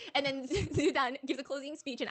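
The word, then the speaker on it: 朱丹: So they're getting her name wrong, okay, because her name is Zudan. Zugan.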